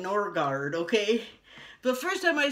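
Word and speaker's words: Noregard: N-O-R-E-G-A-R-D, No Regard. But they don't call it No Regard, but they call it Norgard, okay?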